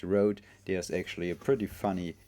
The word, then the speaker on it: RØDE: the rode anti-usb mini mic and yes it's pronounced Road there's actually a pretty funny tweet from rode